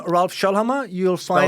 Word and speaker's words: Schoellhammer: If you just Google my name, Ralph Schoellhammer, you'll find... Spell it out. So it's RALPH, so like Ralph Lauren, no relation. Yeah. And Schoellhammer is SCHOELL and hammer like the tool.